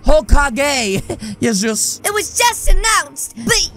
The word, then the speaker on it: Hokage: and his little gang you're the new whole cookie huh actually bud it's pronounced hokage it was just announced